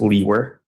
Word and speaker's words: Liewer: my last name is spelled Liewer, and it's pronounced Leewer.